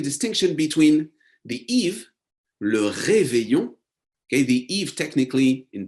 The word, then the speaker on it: réveillon: So keyword here, le réveillon. And you will notice the pronunciation of this word. Double L in French accounts for a Y sound.